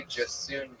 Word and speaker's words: Jasiunas: Oh, J Jasoon. You have a weird last name. Just soon as the I is silent. Spelled out for us. Oh. JJASIUNAS. Jay Jasunas.